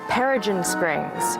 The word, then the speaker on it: Peregrine Springs: I've just been told that the dance center Peregrine Springs is how you say the name of the school that Alfie Shacklock attends in Australia.